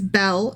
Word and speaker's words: Bel: to spell it and you thought it was like a girl's name like be e l l e or something like that um but it's more like the god Bell so think l b